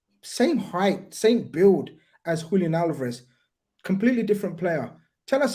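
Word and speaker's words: Julián Álvarez: Julian Alvarez.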